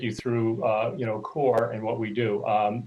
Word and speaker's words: CxORE: kind of take you through uh you know core and what we do um the name um the spelling uh everybody kind of gets tripped up it is pronounced core um you know the x is in there